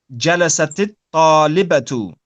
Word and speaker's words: جلست الطالبة: So it was جلست الطالبة, but as we said, when you have the ta on the end of جلست with the sukoon, and then we have the alif and the lam, it's then pronounced with a kasrah.